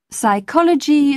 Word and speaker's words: psychology: both leave it out in the words psychology psychic and psychiatry you must never sound the pee psychiatrist you call the